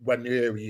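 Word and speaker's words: Nwaneri: But this guy, Ethan, and if I can pronounce his name, because I think it's a silent N, and Weary or Waneri or whatever.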